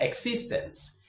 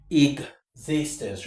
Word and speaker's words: existence: It's not existence. Existence. Remember when you have this structure e x and x is followed immediately by a vowel sound. A vowel sound. The x is pronounced as exig.